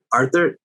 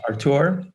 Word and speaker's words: Artur: Just for the record, I'd like to note that my name is pronounced Artur. Morgan and I, we've kept it as Arthur because first half of my life till I was 18, I was called Arthur officially.